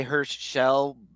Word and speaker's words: Hirsch-Shell: yeah, I usually say Hirsch-Shell with like it's a very Yeah, tiny pause, I guess. Herschel.